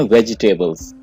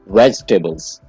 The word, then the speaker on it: vegetables: हम कहते हैं वेजिटेबल्स और ये वर्ड हम गलत प्रोनाउंस करते हैं। मैं आपको बता दूं कि अक्सर लोग ये वर्ड गलत प्रोनाउंस करते हैं। इसकी सही प्रोनाउंसिएशन है वेजिटेबल्स। वेजिटेबल्स। इसके आप दो पार्ट कर लें, वेज और टेबल। वेजिटेबल, आपने वेजी नहीं कहना है, वेजिटेबल।